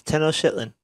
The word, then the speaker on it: Tenochtitlan: Is that how you pronounce it? Tenochtitlan. I think you're making that up. But click it. It'll pronounce it for you. No, it won't. Yeah, click it. Oh. No, it won't. Click pronounce. Go back. Click on that. It's Tenochtitlan. Okay.